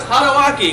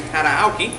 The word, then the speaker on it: Tadaoki: Yeah, two main characters were Hosokawa Tadawaki, because I even spelled his name wrong when I wrote it, should be Tadaoki, and Torikachiza.